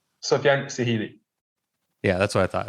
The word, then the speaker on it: Sehili: Sofiane Sehili.